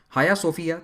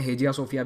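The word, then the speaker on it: Hagia Sophia: हाया सोफिया, जिसे तुर्की में हाया सोफिया कहते हैं, इंग्लिश में हेजिया सोफिया भी कहते हैं, ये इसकी स्पेलिंग है, हेजिया सोफिया।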